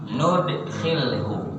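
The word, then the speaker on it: نُدْخِلْهُ: tadi bacaan qoa nafiun wabnu amir nafi ibnu amir bacanya pakai nun bukan yudhilhu tapi nudhilhu binunil adomah dengan nun keagungan maksudnya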